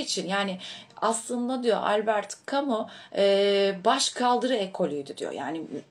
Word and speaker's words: Camus: diyebilirim kamunun bu arada tabii Fransız olduğu için de bazı belgesellerde falan şey kamu şeklinde telaffuz oluyor Albert Kamik şeklinde Ama